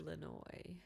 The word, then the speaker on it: Illinois: you have to start with another vowel in Illinois. Chicago, Illinois. Oh yeah. I mean, I guess you'd put the little like W-ish sound Illinois.